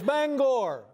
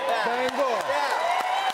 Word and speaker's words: Bangor: There's a certain sensitivity about how you pronounce the name of this city. Yeah, it's Bangor. All right, Bangor.